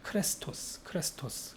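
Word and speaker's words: χρηστός: 크레스토스. 뭐랑 발음이 비슷하죠? 이게 크리스토스. 그 발음이 비슷해요.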